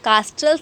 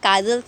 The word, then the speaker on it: castles: यहाँ पे मैंने CASTLES कास्ट, जो यहाँ पे CASTLES लिखा हुआ है, आप उसको कास्टल्स नहीं पढ़ेंगे, ये काजल्स है। टी यहाँ पे साइलेंट है, तो आप उसको प्रोनाउंसिएशन का आपको ध्यान देना बहुत ज़रूरी है।